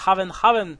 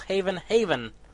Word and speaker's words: Haven: Yep, you don't pronounce Haven, you pronounce Haven. It's Haven, not Haven.